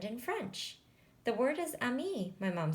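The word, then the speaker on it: ami: you say friend in French the word is Amy my mom says you say it like this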